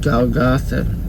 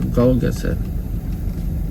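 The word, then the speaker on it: Golgotha: They brought Jesus to a place called Galatha or Golgatha whichever way you want to pronounce it which is translated place of the skull.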